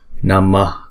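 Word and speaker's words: नमः: Chữ này á, đứng một mình thì chúng ta đọc là Namaha. Ha. Chữ H có dấu nặng là một Visarga. Chúng ta sẽ lấy chữ nguyên âm ngoài trước, chúng ta choàng ra ngoài sau, rồi chúng ta đọc thêm cái âm đó, Namaha. Nhưng vì đứng chung một câu như thế này thì chúng ta không đọc namaha, chúng ta đọc là namah. Chúng ta hạ cái hơi nhẹ ra thôi.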